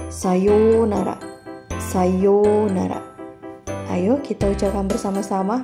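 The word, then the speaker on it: さようなら: waktu yang cukup lama pengucapan untuk ou dibaca panjang menjadi UU Sayonara menjadi sayounara Sayonara Ayo kita ucapkan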